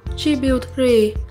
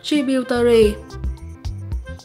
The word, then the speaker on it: tributary: Mình cũng xin đọc lại 4 cách đọc của danh từ số 2 là tributary, tributary, tributary và tributary.